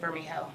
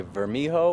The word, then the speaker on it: Vermijo: If I was to pronounce that, I'd say Vermijo, or other people would say Vermijo. Honestly, Vermijo? Vermijo. Vermijo. Yeah, silent J's all around.